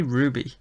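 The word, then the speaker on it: RWBY: Ruby. Ruby. Uh, why didn't you just say Ruby? Just say Ruby.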